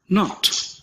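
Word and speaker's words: knot: Letter के के आगे अगर हम लेटर एन लगा दें तो लेटर के की ध्वनि साइलेंट हो जाती है, यानी क का उच्चारण नहीं होता है। ध्वनि बनती है न की।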